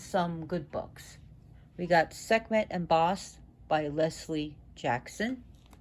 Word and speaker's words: Sekhmet: Originally, her name would have been pronounced Sekhmet, because the ancient Egyptian language was very guttural. Sekhmet. She's also pronounced Sekhmet, as well as Sekhmet, and it's just pronounced Sekhmet.